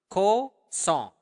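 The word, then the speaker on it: kosong: it up to me Co song uh make sure that you are pronouncing the nassal sound there Co song song like a song okay so Co song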